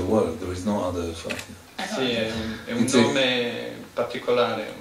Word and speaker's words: Efratia: Si pronuncia Efrazia. It's the unique in the world. There is no other Efrazia. Nome particolare. È per questo che chiedo, perché secondo me è un suono molto. Suona effrazione, no?